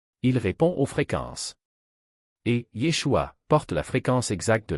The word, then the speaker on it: Yeshua: Le nom est Yeshua avec trois syllabes Yua.